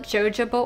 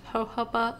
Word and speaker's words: jojoba: The bottle, for years I used to call it jojoba oil, and I think a lot of people still do, but it's pronounced jojoba oil.